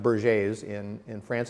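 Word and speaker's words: Berger: or in in our country but it's actually pronounced BER J's in in France it's the most common cause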